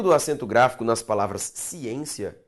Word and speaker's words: ciência: acento gráfico nas palavras ciência e transitório justifica-se com base na mesma regra de acentuação. Vamos separar a palavra ciência. Ciência. A sílaba tônica, perceba, é a penúltima. Logo é uma palavra paroxítona.